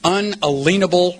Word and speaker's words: unalienable: That they are endowed by their Creator with certain unalienable rights. I pronounce that word unalienable for a reason. The root to that word is lien.